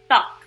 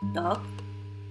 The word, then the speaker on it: 떡: Another example is the Korean word for rice cake, 떡. It has a very prominent D sound, and this is in comparison with only a regular one D sound. It would be 떡 versus 떡, if that makes any sense.